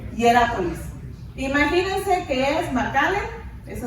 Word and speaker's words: Hierápolis: Si se imaginan a la Odisea y esas ciudades, que es, yo sé que voy a leer una mal, Hierópolis y la otra es Colosas. Imagínense, ¿cómo se dice? Hierápolis.